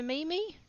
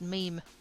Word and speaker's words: Mimi: Choo choo for Mimi. Oh wait, it's pronounced meme.